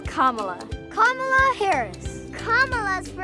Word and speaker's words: Kamala: Republicans who will intentionally try to say her name wrong it's Kamala as in vice president Kamala Harris soon to